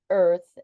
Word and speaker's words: ÆRTH: Earth and a earth it's the reason we're pronouncing it that way is I don't know the name of that character that is the combined A and E but this the name of the of the organization is spelled AER T so tell us where